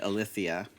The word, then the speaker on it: Alicia: You said like What did we say? Elisa or something, Alicia.